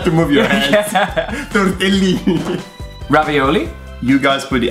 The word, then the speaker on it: ravioli: Ravioli. You guys put the accent on the wrong vowel. It's not ravioli. is ravioli. It's on the O.